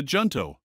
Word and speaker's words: Junto: Ah, the Junto. Indeed, you've pronounced it correctly.